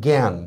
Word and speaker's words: জ্ঞান: তারপর দেখেন গ্যা, এটা যদি প্রথম বর্ণের যদি হয় গ্যা তাহলে উচ্চারণটা হবে গ জফলা আকার চন্দ্রবিন্দু। ফর এক্সাম্পল দেখেন জ্ঞান, দেখছেন?